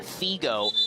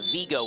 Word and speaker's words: Vigo: not right and it's probably sounds like I'm saying a Figo but I'm actually saying Vigo with a V as in Victor foreign but you never